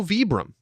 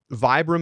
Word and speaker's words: Vibram: got an email and it's also vibram because it's an italian company which like duh i knew this and so bieber is a totally acceptable pronunciation and vibram is also sort of the commonly used american pronunciation but technically josh you